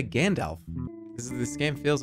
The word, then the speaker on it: Gandalf: How do you pronounce it? It's Gandalf. Gandalf. That's how you say Gandalf.